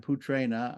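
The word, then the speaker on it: पुत्रेण: that comes before it see the r that comes before p-u-t-r-e-n-a so the r changes the dental n into a cerebraland okay next one putrana Putra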